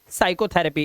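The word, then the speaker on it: psychotherapy: है साइकोलॉजी psychiatrist और साइकोथेरेपी इसमें सब में देख रहे हैं एस से पहले पी आता है तो साइलेंट होता है इसके बाद हमारा बचा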